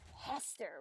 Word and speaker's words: Hester: Hester rhymes with fester.